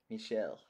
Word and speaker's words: Michel: Michel.